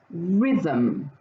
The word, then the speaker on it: rhythm: don't forget my er there's a silent h that's connected with that r letter that's making it a sound so they go together don't forget that in this word the it sound is represented by the y letter well the last one